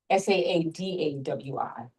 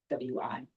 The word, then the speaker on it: Saadawi: And it's let's spell it Saadawi, double A, Saadawi.